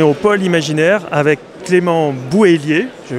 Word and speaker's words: Bouhélier: Donc cette fois-ci on est au pôle imaginaire avec Clément Bouhélier, je prononce bien.